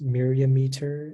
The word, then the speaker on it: myriameter: Yeah, so the only pronunciation is myriameter.